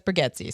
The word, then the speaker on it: Bargatze: So speaking of clean comedy, Nate Bargatze, it's spelled Bargatze, but he says Bargatze, so I'm going to go with it, even though it's an A.